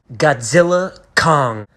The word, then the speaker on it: Godzilla x Kong: I've been waiting for Godzilla Kong a new Empire is out the x is silent now there are things